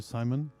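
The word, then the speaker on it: Szymon: I turn over to Simon if I pronounce your name well sorry if I don't but it's obviously it's it's the same uh it's polish pronunciation Shimon but Sim is perfectly okay uh so my name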